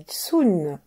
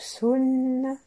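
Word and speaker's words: 巽: Alors, on dit Tsun pour le vent et Tien pour le ciel. Donc Sun, Tien.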